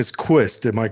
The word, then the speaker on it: Quist: And your last name is Quist. Am I correct? Is that how you pronounce it?